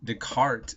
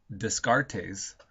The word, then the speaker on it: Descartes: language, that I mean, Descartes is spelled Descartes. Okay, you wouldn't know it's Descartes by just seeing it.